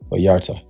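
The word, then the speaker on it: Vallarta: Viarta.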